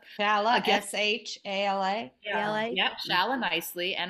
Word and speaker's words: Nicely: h-a-l-a really yeah shala nicely and i see nicely like you'd say oh you did that so nicely she's a lovely human